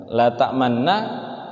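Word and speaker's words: لَا تَأْمَنَّا: Tapi nanti ketika belajar ismam, cara bacanya adalah mencucukkan ketika di nun, ya.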